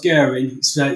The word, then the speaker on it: Guerin: Fairly close, Guerin. And we even pronounce it differently in our own family, so you're not too bad there.